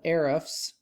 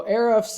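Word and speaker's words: Ahrefs: used a tool that i have that's called arifs let me pull that up here so erifs is spelled a-h-r-e-f-s i pay a few hundred dollars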